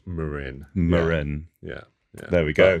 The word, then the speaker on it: Marin: No, it is pronounced, technically it is pronounced Marin.